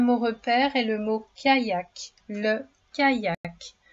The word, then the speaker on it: kayak: Le deuxième mot repère est le mot kayak. Le kayak. Le son i dans ce mot s'écrit avec la lettre y.